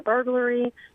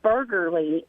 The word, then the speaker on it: burglary: that word before so I said burger Li and my dad and brother could not contain themselves and they would not tell me how to actually say it I got so but